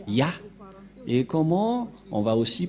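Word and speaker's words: יה: Ça se prononce Ya.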